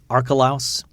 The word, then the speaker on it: Archelaus: um the the mention there verse 22 uh archelaus that's how that's pronounced archelaus that was one of herod the